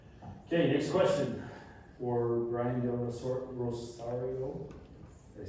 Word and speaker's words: Del Rosario: Okay, next question for Brian Del Rosario.